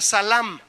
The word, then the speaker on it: salam: Proviene el vocablo, en vez de decir Selem, ahora diga Salam, porque tiene acento en la última A.